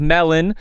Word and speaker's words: Melon: On behalf of Melon, pronounced like the fruit.